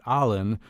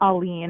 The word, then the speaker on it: Aline: Well, joining us, I hope I'm about to say her name correctly, Allen. Am I saying your name right? Is that how you say it? Aline. Aline, okay.